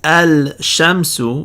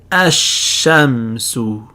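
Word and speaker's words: الشمس: to you're going to skip over the lamb treat the lamb as a silent letter and simply double up the next letter the sheen so instead of saying al shamsu we're going to say ashem and the lamb is now silent all right so that's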